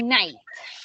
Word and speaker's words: night: Y Luis, remember here to say night. Night, night, night. Right? No Goodbye. night. Have a good night. Night. Night. Night. Al final suena una T.